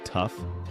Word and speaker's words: tough: And don't even get me started on words like tough, though, and through. Tough rhymes with enough, but neither of those rhymes with though or through. What kind of madness is this?